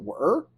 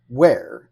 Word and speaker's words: Were: And I was like, well, how do you pronounce this? Is it were and no, it's Wear.